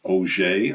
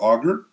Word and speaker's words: Auger: These are called Auger electrons. It looks like auger. It's a French name.